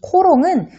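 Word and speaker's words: cologne: 그래서 코롱은 독일의 지명인 게롱의 프랑스식 발음이고 오드 코롱은 게롱의 물을 뜻한대요.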